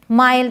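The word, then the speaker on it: mild: और भी वर्ड्स हैं काइंड माइल्ड इसे किंड और मिल्ड नहीं पढ़ेंगे काइंड माइल्ड ग्राइंड वाइल्ड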